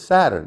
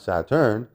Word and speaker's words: Saturn: All planets are properly pronounced with the accent on the first syllable, right? It's Saturn, not Saturn.